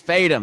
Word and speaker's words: Fadem: Me, Josh Fadem, not pronouncing your name correctly. It's Fadem.